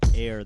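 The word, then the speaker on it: Eyre: Air, that's E-Y-R-E, but it's pronounced like A-I-R.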